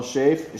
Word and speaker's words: Shafe: Is your last name pronounced Shafe? Shafe. Michele Shafe.